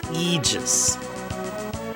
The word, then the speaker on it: Aegis: I think somebody corrected me and said that that's pronounced Eegis.